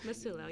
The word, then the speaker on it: Massulo: And let me see if I don't really mispronounce. I know it's Clare Massulo. Massulo, yeah.